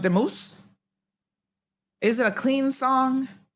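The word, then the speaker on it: Dumus: Oh, they have it spelled D-U-M-U-S. It's pronounced Demuse.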